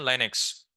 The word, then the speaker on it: Lynx: Internet Explorer, Neo Planet, Google Chrome, Microsoft Edge, Mosaic, Netscape Navigator, Opera, Mozilla Firefox, Linux, Lynx, pronunciation Linux, spelling Lynx.